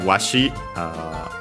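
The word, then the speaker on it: わし: Then we have washi, unaccented, I, again another contraction of watashi, this one used by old people, I cock.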